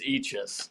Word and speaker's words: Eachus: before either of you tell your stories it's pronounced eachis okay uh so at least say that when